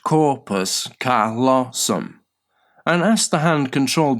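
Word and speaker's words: corpus callosum: That is if we severed that single connection between your right and left hemispheres the corpus colossum pronounced corpus colossum and asked the hand controlled by the non-verbal side of your brain to write words.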